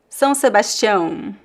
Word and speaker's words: São Sebastião: Vamos pronunciar São Sebastião. So let's practice. Not two nasal sounds here. The diphthong ão. São Sebastião.